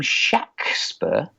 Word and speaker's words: Shakespeare: He pronounced his name Shaxper. Not that that proves anything, but it was Shaxper.